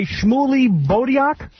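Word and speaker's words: Shmuley Boteach: hands and your brain rabbi shmuley bodiak it's beautiful i have to have like something stuck in your throat to say it properly rabbi shmuley motel you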